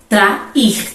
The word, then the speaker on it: trair: Trair, inclusive é um verbo, trair. E em trair também há esse ato. O A e o I ficam separados nas sílabas.